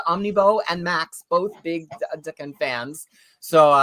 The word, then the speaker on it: Daken: If you look up the actual Japanese symbols for it and listen to the pronunciation, it's like Daken.